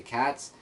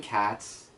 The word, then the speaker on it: Kaz: So as the issue continues, Laura goes to a Ukrainian place where she has to find Cats, or Kaz, it's spelled K-A-Z, I think I'm saying it right, to give her the watch that Alex gave her.